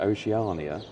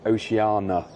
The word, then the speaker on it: Oceania: Actually, we were calling it Oceania. Loads of people have called it different words, haven't they? Yeah. Different ways. Pronunciation here. But this morning we watched the video online, and it's Oceana. The silent I. Yeah, silent I.